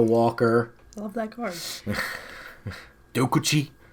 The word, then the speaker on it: Dokuchi: I love that card dokuchi I guess is probably the more correct way to say it I call it dakuchi which is a garbage